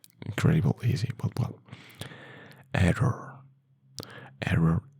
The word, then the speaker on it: error: Error in Spanish is error. You have a little bit more as in over the two Rs.